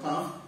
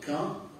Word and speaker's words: ق: Donc il dit si mon disciple, mon élève prononce mal la lettre qaf et il prononce comme ka, comme souvent malheureusement beaucoup de francophones, beaucoup de gens qui sont nés ici, ainsi ils prononcent, il dit je n'accepterai